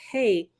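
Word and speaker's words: ה: letter of the illustration another letter hey pronounced hey is the Divine daughter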